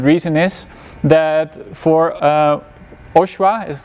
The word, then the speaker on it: OSHWA: the most important reason is that for uh oswa is how people pronounce it most of the time you're not